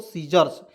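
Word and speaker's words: scissors: तो एस से होता है स लिखेंगे, और डबल एस का उच्चारण इसमें ज के रूप में प्रयोग करेंगे, और देखिए एस से होता है यहाँ पे स का प्रयोग करेंगे, ठीक है। और आर है, इसको कन्हैया चढ़ा देंगे, क्या हो जाएगा दोस्तों, सीजर्स, ठीक है।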